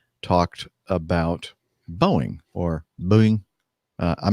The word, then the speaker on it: Boeing: talked about bowing or booing I'm not sure again still how